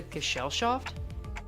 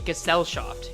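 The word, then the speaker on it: Gesellschaft: Could it be you can't access the Gell shaft? I should be pronouncing Gassel shaft. Yeah.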